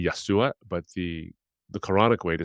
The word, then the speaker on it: Yeshua: Isa is not really the Arabic way to say his name. It's really Yeshua, but the Quranic way to say Jesus' name is Isa.